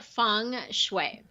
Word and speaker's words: Feng Shui: that that's amazing okay so you've got this Feng Shui stuff am i pronouncing it correctly feng shui or function you're pretty close it's Fung I'm fine as if it were you Fung Shui Fung Shui got it yeah and it actually